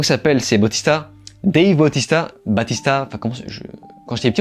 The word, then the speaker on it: Bautista: Dave Bautista, enfin quand j'étais petit on disait Batista, donc je sais pas si on prononce Batista ou Bautista, bref.